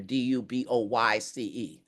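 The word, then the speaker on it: Du Bois: back and forth, and I have heard it pronounced Dubois all my life. But then I Googled it and they said it's Dubois. But if the family, we need to pronounce it the way the family wants us to pronounce it.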